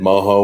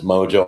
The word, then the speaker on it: mojo: I thinking it's more I said maja when it's mojo I like oh so